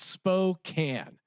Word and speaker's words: Spokane: across from quarters according to the internet it's pronounced Spokane okay and just to clear it up before